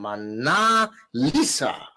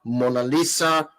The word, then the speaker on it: Mona Lisa: really terrible experience from mana lisa mona lisa actually she's pronounced mona lisa cinder cooker right now